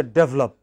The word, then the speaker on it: develop: How should we pronounce the first word? Develop. What is it? Develop. Pronounce it this way. D. What is this? What is this? Develop. Okay. It is this which is stressed, but if you pronounce it as develop, then you know you are misunderstood.